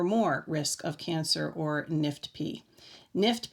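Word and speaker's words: NIFTP: acronym the letters are n-i-f-t-p and it stands for non-invasive follicular thyroid neoplasm with papillary-like nuclear features in the world of thyroid cancer this is pronounced nift p so the answer is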